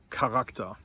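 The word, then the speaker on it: Charakter: And those words of Greek origin that start with a CH in German, to the best of my knowledge, are all pronounced with a hard K sound, just like the letter K, with a hard K sound.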